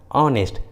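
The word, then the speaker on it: honest: है तो H silent होता है, एच का उच्चारण नहीं करते। जैसे आवर, ऑनर, ऑनेस्ट, देखें तीनों इंग्लिश वर्ड्स में एच एकदम शुरू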